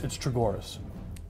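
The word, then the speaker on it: Chogoris: It's Chagoras.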